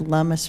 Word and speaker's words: Lummis: second campaign that said Lummis rhymes with hummus on them just because i got it so much so I I suggest the t-shirt route mr.